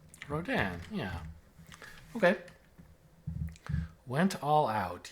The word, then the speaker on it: Rodin: Pronounce... Rodin, yeah.